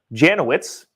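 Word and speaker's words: Jankowicz: hunter biden laptop scandal nina janwitz janowitz that's how you say it janowitz will head the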